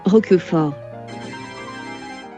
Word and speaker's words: Roquefort: Roquefort. 로크포트? 로크포르? 영어식 발음 때문에 여러 발음으로 불리는데요. 저는 그래도 이 친구가 프랑스 치즈니 프랑스식 발음으로 계속 불러보도록 하겠습니다.